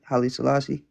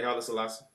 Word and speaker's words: Haile Selassie: What's your viewpoints on Haile Selassie? Did I say his name right? Haile Selassie. Yeah, Haile Selassie.